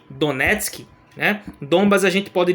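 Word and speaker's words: Донецьк: usa um creme anos a pronúncia certa em ucraniano é Donetsk nós falamos do netos podemos falar danielski tranquilamente e também no Husky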